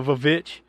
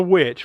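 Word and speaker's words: VVitch: known as you know without being funny the vavich but it's it's the witch right but it's just spelled with two v's instead of a w because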